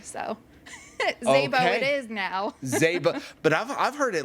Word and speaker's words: Szabo: Zaybo. Got to put the hands Yep, there you go. We don't pronounce the S, so it's a hard Z. Oh, so Zaybo.